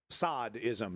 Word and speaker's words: sadism: Sadism is of course sadism. It should be I think it should be pronounced sadism, but I think eventually we just started saying sadism. But of course the word is coined from the marquee dsad.